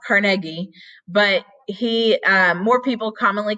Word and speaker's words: Carnegie: So Andrew Carnegie, which is actually pronounced Carnegie, but more people commonly call him Carnegie, was actually an immigrant.